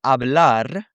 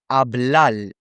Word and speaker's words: hablar: word ends in R, they'll pronounce the R like an L. So instead of saying hablar, they might say hablal.